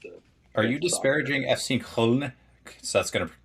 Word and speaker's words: Köln: Are you disparaging FC Köln? So that's going to correct my pronunciation on that. And yeah, Köln, yeah, the goat. Yeah, Köln. Okay, I overdid it.